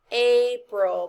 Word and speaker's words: April: would go here and this a is not a it's a a it's a long a now what does this word say april the a says its name listen to the word